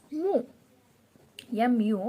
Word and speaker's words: mu: with this greek letter which is called as mu but we'll pronounce it as mo or someone will tell it as mu so